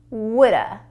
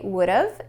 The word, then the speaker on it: would've: I would have, I would've, and I woulda. Do you hear the difference? If you don't worry, just practice. But remember, native speakers will say would've and would've much more.